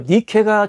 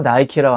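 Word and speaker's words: Nike: 니케인데 영어 발음으로 나이키라고 하는 것이고 원래 NIK는 니케인데 니케는 승리의 여신이에요.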